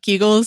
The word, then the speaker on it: Kegels: And I was like, no, it's actually pronounced beagles. We had this whole back and forth about butt keigull.